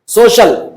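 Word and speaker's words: social: ओ सी आई ए सोशल सोशल सोशल का मतलब क्या होता है समाज समाजी तो इस तरह सी आई ए का साउंड भी यहां पर श ही होगा जिस तरह अ कमर्शियल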